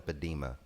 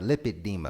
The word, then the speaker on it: lipedema: of women suffer from the padima am i pronouncing it right lipedema right yes you're you are you